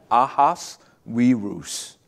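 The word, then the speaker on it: Ahasuerus: gonna botch it okay it's aha ahas we ruse that's how you say it ahaz right and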